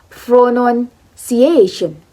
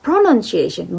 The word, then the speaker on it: pronunciation: stress is in a pronunciation it's not pronunciation but pronunciation the a is word stress okay that is about